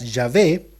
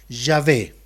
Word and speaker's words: Yahvé: los teólogos, ¿verdad?, que su pronunciación más próxima y la más aceptada y probablemente la más cercana sea Yahvé, Yahweh en algunos otros idiomas, pero en español sería Yahvé.